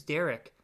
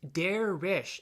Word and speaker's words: Derich: My name is Derek. It's Derich. It's how to say my name altogether.